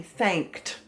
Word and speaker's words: thanked: this one is unusual because the ed sounds like a t thanked so the suffix actually has a vowel but it doesn't have a vowel sound so it's only going to be one syllable thanked so let's look at